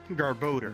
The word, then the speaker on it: Garbodor: real life also also it's not pronounced or it's pronounced garbodor galvador i'm gonna call